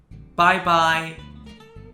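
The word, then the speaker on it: 拜拜: is actually for tone but it is pronounced in the first tone when it means goodbye you can also add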